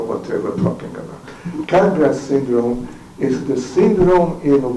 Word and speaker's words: Capgras: Now he pronounced his name Capgras, but in this country it's called Capgras syndrome.